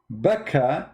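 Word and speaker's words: Bakkah: Becca is how it is pronounced for some people.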